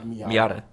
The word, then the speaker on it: Miata: you say car's name because i don't know miata okay apparently those are like pretty popular cars